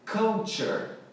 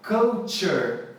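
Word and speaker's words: culture: é que eu tiver couture couture pré negócio de filmes cult lembra disso então kutcher é a pronúncia correta e daí se originam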